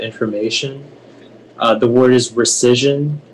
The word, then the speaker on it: rescission: the sense is the plaintiff agreed to the rescission of the agreement can you repeat the definition